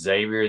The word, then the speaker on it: Xavier: Yeah, it's just Xavier. The X is silent.